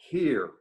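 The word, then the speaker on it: hir: are the inclusive pronouns Z and here pronounced like the word here and there here Z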